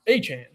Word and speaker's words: Etienne: He's like, Etienne is actually pronounced Achane.